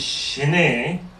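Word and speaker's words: shinay: one starts with the shehnai meditation of calm abiding love is Shinae in tibetan is two syllables the first one is she she is to specify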